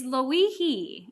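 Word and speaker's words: Lōʻihi: is it kilauea or is it luihi it's luihee all right so let's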